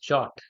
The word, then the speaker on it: JWT: तो Jason web token pronounced as जॉट।